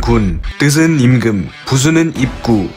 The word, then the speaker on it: 君: 이 글자의 발음은 군, 뜻은 임금, 부수는 입구, 총 7획입니다.